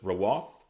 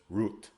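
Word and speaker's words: רוּת: Next we have Ruth, which we pronounce as Rawath. They pronounce as Ruth.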